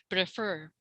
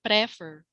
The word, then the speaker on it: prefer: there's some you you there's like a stress on the second second syllable because the other say prefer no it's prefer and